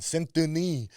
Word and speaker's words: Saint-Denis: Saint-Denis, I believe he would probably pronounce it.